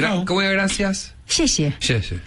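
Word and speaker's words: 谢: Xie.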